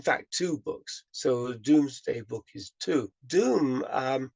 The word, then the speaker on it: Domesday: two books so the Doomsday Book is two Doom um isn't spelled D o om is actually spelled like King's dome in Seattle it's d-o-m-e pronounced Doom but it's not it's not spelled Doom the and in fact